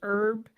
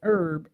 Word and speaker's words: herb: Yes, and it says American English herb, silent H is standard. Think as herb, British English herb, pronounced H is standard. Think herb. Why do Americans say herb instead of herb? We say it that way because we never had Cockneys know, really. All English speakers used to drop the H in the word herb because it followed the same phonetic silent H rules as other words that entered the language from the French.